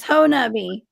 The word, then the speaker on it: Honobia: you sent me a the henobi hat right pronounce me i'm going to get it right one day john i promise ho nubby it sounds like um it sounds like something